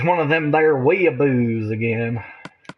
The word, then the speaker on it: weeaboo: read it and they were like, it's one of them there weeaboos again. Wayboos. Weeaboos. That's how they say it in Australia. It's just wayboos.